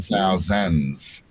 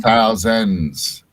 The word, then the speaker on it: thousands: of islands rather than thousands kind of like a zed at the end almost not an s but a zed it's thousands oh yeah thousands yeah